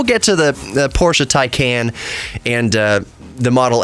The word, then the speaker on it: Taycan: up against uh Tesla's Model S the Porsche tyan right is that how you is that how you pronounce it tan Ta A T A YC